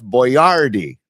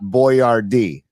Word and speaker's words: Boyardee: Now, can we just at least pronounce it correctly? Where if you wanted, it's Chef Boyardee, not Boyardee.